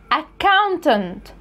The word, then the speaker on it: accountant: نفس الوضع سي وسي و كي وكي هتبقى accountant، accountant.